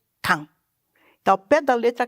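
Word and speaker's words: 漢: época da dinastia han que em japonês se pronuncia can então ao pé da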